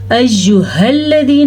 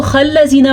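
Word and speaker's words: أيها الذين: جاتی ہے، ٹھیک ہے۔ ایہا الذین، ہاں کے تلفظ کا آپ نے خیال رکھنا ہے۔ بعض لوگ اس کو خلذین پڑھ لیتے ہیں، استغفراللہ، یہ بہت بڑی غلطی ہے۔ بعض لوگ اس کو حلذین پڑھ لیتے ہیں، یہ بھی بہت بڑی غلطی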